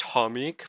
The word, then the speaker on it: Chomik: I know it's actually pronounced Homik, but like Chomik is better.